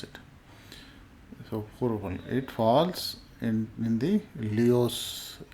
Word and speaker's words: Purva Phalguni: Purva Phalguni is pronounced as Purva Phalguni. Okay, that's how you pronounce it. So Purva Phalguni.